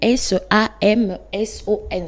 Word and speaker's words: Samson: ça me saut Samsung ça s'écrit S a M S o n Samsung vous connaissez l'histoire de